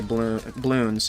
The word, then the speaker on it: bloons: Or should I just say bloons? No A. No balloon. You don't pronounce the in balloon. Eek.